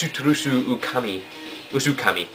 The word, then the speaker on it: Suterusu Usukami: you weren't sure if you were pronouncing the name right in your older vids. Just for your information, you were. So it's Suterusu Usukami.